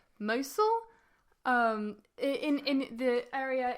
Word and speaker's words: Mosul: and I'm not going to say this right mosul um in in the area in oh in